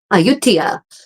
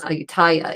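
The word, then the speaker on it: Ayutthaya: Aayutia, which I think everyone would probably normally except for Thai people pronounce as Aayutaya is one of those amazing medieval capital ruins that has was abandoned.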